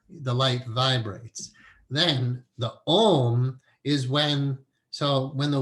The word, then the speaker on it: Om: Om is 3 syllables. It's A-U-M.